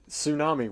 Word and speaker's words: tsunami: I understand those words where it's like, hey, look, tsunami. Why is there a silent T at the front of there? Like, just drop it. Like, nobody needs a T on tsunami.